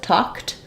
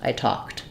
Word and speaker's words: talked: is also voiceless so same thing with talked the letters Ed say the T sound I stopped I talked there is a little